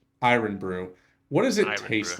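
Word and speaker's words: Irn-Bru: or irn Brew how how do you pronounce it iron Brew iron Brew what does it taste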